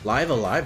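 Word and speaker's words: Live A Live: Live Alive, that's how you pronounce that.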